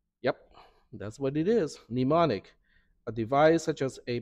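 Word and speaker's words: mnemonic: n i c so nimonic the first m is silent is that a French word demonic it's Latin okay and what does it mean what does demonic mean yep that's what it is nimonic a device such as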